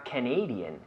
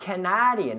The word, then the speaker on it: Canadian: in Canada are Canadian not Canadian but Canadian right oh right Canadian again the people in Canada you have to stick your tongue out the the people the people in Canada or Canadian Canadian that's right uh Portugal